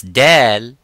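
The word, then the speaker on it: دال: Now, when we pronounce Dal, Dal is an empty mouth. It is not Dad.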